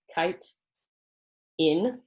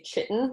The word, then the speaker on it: chitin: sorry this is said pronounced as if it's spelled kite in a lot of people say chitten which is not correct